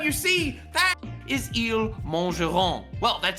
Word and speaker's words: mangeront: No, this one ends with a silent T, not a silent S.